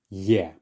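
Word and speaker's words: Е: This is the Russian letter Ye. Ye. So pretty much an E, but just with a letter Y added at the start.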